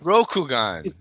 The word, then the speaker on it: Rokugan: Is that how you pronounce it? Rokugan. Rokugan.